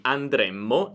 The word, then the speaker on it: andremmo: Infatti, se io dico noi andremo, significa che noi andremo nel futuro, invece noi andremmo è condizionale. Qui possiamo usare la stessa tecnica. Andremo, andremo, futuro, andremmo, andremmo, condizionale.